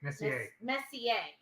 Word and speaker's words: Messier: Messier. Okay. Thanks. I think that's how you pronounce his name.